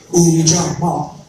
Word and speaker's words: Ujamaa: We as black people, and we're Ujamaa, and I'm saying it right, Ujamaa, which means cooperative economics, right?